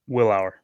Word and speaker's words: Willour: to pronounce your last name incorrectly did I pronounce that correctly Willow you're good willow Isaac Willow uh he's an